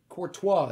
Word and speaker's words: Courtois: Courtois, there we go.